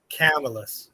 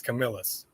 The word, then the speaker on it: Camillus: camillus at any rate it's not camillus it's camillus hey hey marcos or camillus